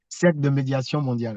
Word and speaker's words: Cercle de médiation mondiale: cercle de médiation mondiale, ouais.